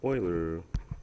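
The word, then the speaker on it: Euler: you might think is user but it's actually pronounced Oiler if you are a Edmonton Oilers hockey fan that's how I remember how to say his name but uh Oilers method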